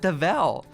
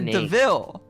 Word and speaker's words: Deville: do you mean dude it's not devel that's not her name it's sonya deville deville oh the ville stephen